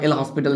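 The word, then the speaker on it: L'Hôpital: আছে এগুলো আমরা জানি এই যে লসপিটাল বা এল হসপিটাল দিয়ে হয়ে যায় আমি এল হসপিটালই বলি অনেকে লসপিটাল বলে যাই হোক এল হসপিটাল বা লসপিটাল যাই হোক বানানটা একটু আলাদা হতে পারে ওটা দেখে নেবে ঠিক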